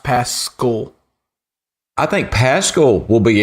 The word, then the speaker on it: Pascal: It's like Paschal, but it's pronounced Pascal.